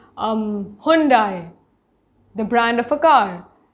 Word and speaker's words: Hyundai: that you are saying the correct correct pronunciation it is hyundai it's not hyundai but because 90 percent